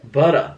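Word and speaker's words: Buttah: Butter. That's how it's spelled.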